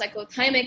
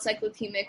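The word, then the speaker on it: cyclothymic: and then there is um cyclotimic apparently it's pronounced psychothymic and not cyclothemic which i think is insane but psychothymic disorder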